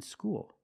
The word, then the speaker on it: school: L's are different there when you said School us the dark L because the L is at the end of the word after a vowel school and when you said